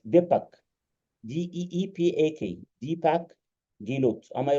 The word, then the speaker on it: Deepak: Allow me to take, first of all, Deepak mentioned, I think that I pronunciate the name right, Deepak, D-E-E-P-A-K, Deepak Gilot.